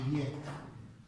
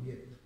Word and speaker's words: Viète: Una cosa, queste si chiamano formule, è un matematico francese, credo che si pronunci Vietta, perché c'è l'accento su quella E qua, non c'è l'accento qua, Vietta, formule di Vietta, matematico del 500.